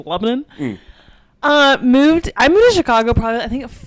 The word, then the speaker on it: Lebanon: Or Lebanon. The locals have I've been a little lazy with the pronunciation of it, so it's been turned into Lebanon.